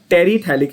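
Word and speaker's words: terephthalic: बहुत सारी reference books में उसको टरथैलिक भी बोलते हैं, TER या TERE, both are acceptable, that is fine, but actual spelling is TERE। तो उसको लोग टरथैलिक या टेरिथैलिक बोलते हैं।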